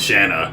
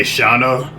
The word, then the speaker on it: Shanna: I used to say Shana and she explained to me that an easy way to remember is that Shanna rhymes with banana and uh where did